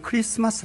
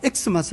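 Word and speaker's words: Xmas: 그리스도가 나온 거예요 그러니까 x 마스 써 놓았다고 x 마스 라고 읽는 것은 헬라어를 영어로 있는 거죠 그러니까 그것은 생식이 아닌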